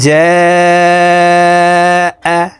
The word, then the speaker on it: جاء: ইযা জাআ, এই জিমকে 4 আলিফ টেনে পড়তে হবে, কারণ মদের হরফের উপরে মোটা চিহ্ন বামে হামজা, মধ্যে মুত্তাসিল 4 আলিফ টানিয়া পড়িতে হয়।